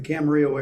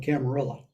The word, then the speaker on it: Camarillo: They're all flying to the Camarillo airport, or some people call it Camarillo.